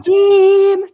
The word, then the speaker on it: Vadim: might be saying no, that's exactly how you pronounce it. And Vadim, like that. Hey, everybody, what's up? Yeah, actually, it's commonly mispronounced, so don't worry about that. You nailed it.